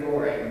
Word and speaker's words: Goring: Forrest and Suzanne Goring, rhymes with boring, according to Johnny.